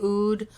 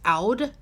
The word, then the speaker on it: oud: the way I have how do you guys pronounce UD I say oud although I've heard it's also pronounced out from a lovely subscriber I did some research